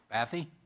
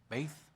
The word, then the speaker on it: Bath: Next speaker is Alex Bathy? Bath? Nope. Alex Bath? Yes.